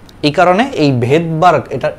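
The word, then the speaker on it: Svedberg: তো রাশিয়ান ভাষাতে সামনে যদি এরকম এস থাকে সেই এসটা হচ্ছে অনুচ্চারিত থাকে, এই কারণে এই ভেদবার্গ, এটার উচ্চারণটা কিন্তু ভেদবার্গ, বাট বানানটা দেখো সামনে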